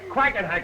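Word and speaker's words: Quackenhack: Mr hack and quack quacken hack is the name a little hard to pronounce it first but you'll get it yes think of a duck doll very good very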